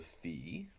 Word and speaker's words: phi: But it kind of looks like a phonograph, and so that's a good reminder of the Greek letter phi, which would be pronounced with our English letter F.